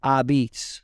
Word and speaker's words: apizza: what they did was they took the L off because it was easier to pronounce ah beets it's really a apostrophe